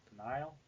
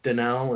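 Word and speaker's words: Dinal: you pronounce that d i n l yeah denal did you you say Deni d i n l denal denal yes it's denal that's how you pronounce the name all right but apparently someone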